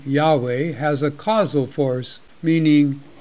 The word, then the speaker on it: Yahweh: calls himself something else spelled y-h-w-h which this version pronounces as Yahweh let's look at this